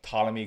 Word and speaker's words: Ptolemy: The next one, this is a one on Apple Plus, and that is, I'm gonna say this right, Ptolemy Gray. Right. The P is silent. Right.